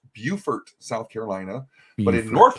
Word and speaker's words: Beaufort: on here it's pronounced Beaufort South Carolina but in North Carolina they call it it's spelled the same but in North Carolina it's called Beaufort okay so that that